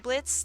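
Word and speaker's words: Blitzø: boyfriend uh boyfriend uh Blitz the O is silent um then we had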